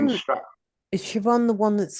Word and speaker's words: Siobhan: can sort of Is Siobhan, reconstruct. is Siobhan the one that's spelled Siobhan? Yeah, Right. yeah. And it's a B and an H, and yet it's pronounced V.